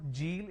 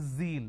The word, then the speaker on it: zeal: jar it's a mispronunciation it's not jibra it's zebra it's not john it is zone it's not g it is zeal it's a z sound another mistake that people